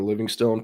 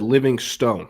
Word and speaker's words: Livingstone: Everyone keeps talking about how Parker Livingston or Livingstone pronounces his name. I spoke with him and his dad to their face in high school uh multiple times and I always said Living Stone. I never said Livingston. I said Living Stone how it's pronounced.